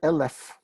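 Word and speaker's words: אלף: this is the word lf lf it has nothing to do with elves lf means a thousand right and like melech and parrots it's accented on the first syllable all right we've done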